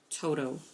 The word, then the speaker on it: Toto: Toto. Toto? Mm-hmm. That's a funny name. Who names a dog Toto? Toto. Toto. Yeah. He said Toto. Toto. Toto? It rhymes with Coco. Exactly. But it's T-O. T-O.